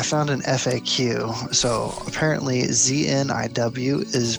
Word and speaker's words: Zniw: So apparently ZNIW is pronounced Zniw.